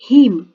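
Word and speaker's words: haeme: H-A-E-M-E. Heme. A is silent here.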